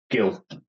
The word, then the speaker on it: Gill: and also your surname is it Gil or Jill Gil Gil good good we're in there